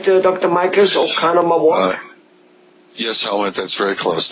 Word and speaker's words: Oconomowoc: Do I pronounce that right, Dr. Michaels, Oconomowoc?